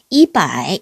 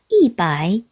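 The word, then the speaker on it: 一百: 100은 바이라고 발음하지 않고요. 앞에다가 숫자 2를 붙여서 이바이 이렇게 발음을 합니다. 보통 바이가 3성이니까 앞에 2를 4성으로 발음해서 이바이 이렇게 발음을 하죠.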